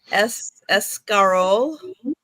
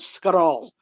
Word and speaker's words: escarole: Escarole. Escargot. Okay. No, it's not escargot. It's escarole. Something Italian. Americans call it escarole, but Italians call it scarole. We just don't even use the E.